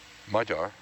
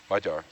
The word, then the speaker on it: Magyar: Magyar. Pardon me? Magyar. Magyar? Magyar. So you can't pronounce that G-Y either.